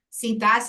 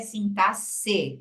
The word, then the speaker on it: sintaxe: vocês que a palavra sintaxe tem essa significação e a pronúncia é sintasse não é sintax beleza porque muita gente fala assim mas aqui a gente tem que saber tudo agora então é sintaxe E é exatamente isso